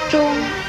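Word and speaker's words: 螽: 钟字的国语注音是钟，一声钟，知翁钟，一声钟。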